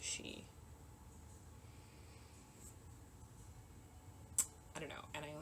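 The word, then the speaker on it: sídhe: to pronounce that well I know how to pronounce she which it's like s d h e like why is that she why is that word pronounced she I don't know and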